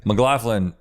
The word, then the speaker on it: McLaughlin: McLaughlin is the way that us McLaughlin say it, I see. but I'm pretty sure we say it wrong.